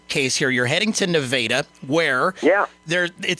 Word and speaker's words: Nevada: It is pronounced Nevada, by the way, Jason.